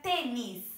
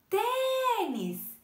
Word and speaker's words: tênis: sílaba, como a palavra tênis, ó, tênis, duas sílabas, é uma dissílaba. E qual que foi mais forte? O T. Ó, se a gente fosse chamar tênis, perceberam que o T